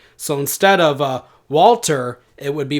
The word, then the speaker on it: Walter: Now, the Elizabethan pronunciation of the name Walter would have softened the L, in much the same